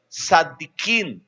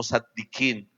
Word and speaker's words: Tzadikim: Según la tradición oral, los judíos decían que Amram era uno de los 4 Tzadikim. No le puedo traducir esa palabra, se escribe con T, Z-A, Tzadikim, que significa hombres justos, perfectos, que jamás cometieron un pecado.